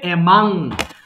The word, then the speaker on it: among: সো অ্যামাং মানে এটা কিন্তু উচ্চারণ হবে অ্যামাং, আমরা অ্যামং বলি কিন্তু সঠিক উচ্চারণ হয় অ্যামাং।